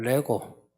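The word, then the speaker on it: λέγω: 헬라어로 로고스라는 이 말은 말하다는 걸 레고 우리가 조립하는 거 있죠 레고 그 발음하고 똑같아요 명사형으로 로고서입니다 나중에는 로오스가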